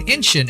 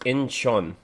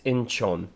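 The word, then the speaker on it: Incheon: One of their biggest breaks was at K-pop festival in Inenin in 2014. Their whole stay and Uncle Chuck, it's it's pronounced Inchon. I I'm I'm not being an a-hole. I'm just saying it's Inchon.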